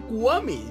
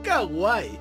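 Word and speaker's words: kwami: Por cierto, antes que se me olvide, sé que se pronuncia Kuami, no Kawaii.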